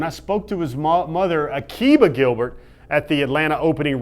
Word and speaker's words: Akiba: Is it Akiba? It's Akiba.